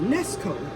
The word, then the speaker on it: Nesco: This is a Presto. The one I'm about to get is called a Nesco. It rhymes, huh?